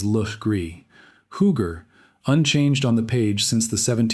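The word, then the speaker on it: Legaré: Legares, spelled precisely as the original French, is pronounced in Charleston to this day as Luch Gree.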